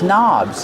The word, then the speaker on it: knob: These towels are hanging from these knobs. These are called knobs. The word knob has a silent K on it. Don't pronounce the K. Start with the N sound. Knob.